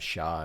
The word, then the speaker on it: Char: It's like when you have Shaw and stuff, right? So yeah, like Char, it's it's pronounced Sha in Japanese, so they spell it Sha, S-H-A.